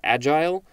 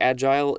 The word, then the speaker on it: agile: an agile mind and you notice i said agile it it does look like agile is also an approved pronunciation i think that just depends on your personality and the context but agile or agile is good and agile lee is